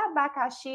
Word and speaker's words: abacaxi: já observa aí que a sílaba tônica é a sílaba xi, e é a última sílaba.